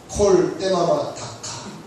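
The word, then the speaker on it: קול דממה דקה: 세미한 소리 콜 때마다 다카 히브리어로 콜데마다카. 그렇죠. 두 번 발음했으니까 더 이상 발음 안 할게요.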